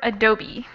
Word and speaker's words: adobe: a note on pronunciation we actually say this word adobe adobe kind of a yeah kind of a bizarre pronunciation but that's how we say it okay the next